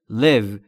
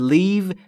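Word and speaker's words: live: ستی یعنی این شهر در مورد تلفظ لو دقت بکنید تلفظ ای در لو به صورت کوتاه بین ای و ا یعنی به این صورت باید تلفظ بکنید لو لو و اگه یکم بکشیدش یعنی بگید لیو میشه ترک کردن پس با یک تغییر تلفظی معنی کلمه عوض میشه حواستون باید باشه لو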